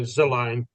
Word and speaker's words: Zelane: So potentially, we could say, is it Zelane, PK? Is that how I pronounce it? Like Zelane, or what is it? Yeah, so Zelane. Yeah, so Zelane makes premium